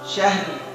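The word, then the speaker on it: شهر: Syahr, ro-nya tebal dan bainiyah, jalan sedikit.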